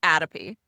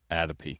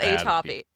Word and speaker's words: atopy: What is the correct way? It's atopy. Atopy. Atopy. Not atopy.